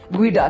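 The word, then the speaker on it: geoduck: the jodu Y guu yes guu it's spelled g EO duck guu and then I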